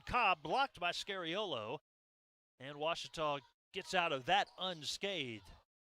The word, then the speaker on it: Ouachita: ouachita sports digital network back in texas everybody pronounces it wichita but really it's ouachita washington washington how would you pronounce it it's washita baptist university get it right it's watertall people it's wachata it's washita people that's what i always